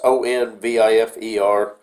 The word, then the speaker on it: Onvifer: I'm not sure how it's pronounced, Onvifer, Onvifer. It's Onvifer.